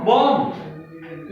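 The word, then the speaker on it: bomb: क्या है बेटा बी यदि शब्द में एम के बाद बी आता है तो बी अक्षर साइलेंट और इसका उच्चारण क्या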